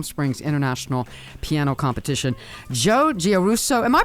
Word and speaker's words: Giarrusso: of the Palm Springs International piano competition Joe guso am I pronouncing your name correctly first of all you